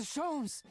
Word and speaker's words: Sholmes: Mr. Sholmes! Oh, that is how you say it. Animation. It's the first time someone said it out loud.